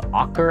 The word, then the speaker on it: ochre: That's what they call ochre, I think is how they pronounce it, O-C-H-R-E.